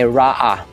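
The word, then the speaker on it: רֹעִי: And then next name ng ating Diyos ay Yahweh Rohai or Ra'ah. Okay, Ra'ah. So that is how it is pronounced, mga kasembreros.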